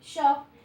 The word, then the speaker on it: shop: Y es cuando, por ejemplo, la SH, que es shop, la SH se trata como de estirar los labios, es shop.